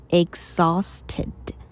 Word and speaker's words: exhausted: Intense, 剧烈的。I am totally exhausted. Exhausted. 的 H 我们不发音哦，直接 X 加后面的 R 就念 Z, exhausted. Do you want to take a break?